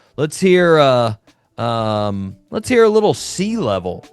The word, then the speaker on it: Leavell: Listeners, for you that are not watching this, which you probably aren't, I'm holding a level.